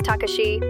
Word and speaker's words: Takashi: State Minister for Foreign Affairs Matsumoto Takashi pronounced Takashi publicly apologized saying, "It cannot be denied that our response was delayed."